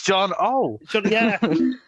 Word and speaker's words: Jono: It's with an O at the end. It's John O.